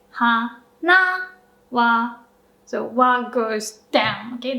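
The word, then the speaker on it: 花: So for odakagata, you do go up like low, high, and then when the particle comes, you pronounce the particle with a low pitch.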